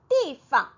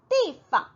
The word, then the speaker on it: 地方: 地方 네, 여기서 보시면 네, 띠 사성이고요. 빵이 지금 일성으로 되어 있어요. 중앙에 대하여 지방인 곳, 지방이라는 단어는 地方이라고 읽어줍니다. 그런데 여기서처럼 地方 네, 빵이 경성으로 지금 읽히고 있어요.